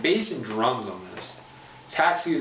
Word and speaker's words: Tatsu: Tatsu, the bass player, that's how it's pronounced, I believe. Tatsu.